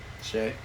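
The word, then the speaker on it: Shai: I got Shy also. Shay. Yeah, Shay. Say it right. Shay. We're gonna go Shay.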